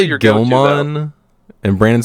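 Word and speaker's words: Guilmon: Gilmon, and Brandon says Guillaumon. Yeah, he says it like it's a water Digimon, like gill. Like it's got gills.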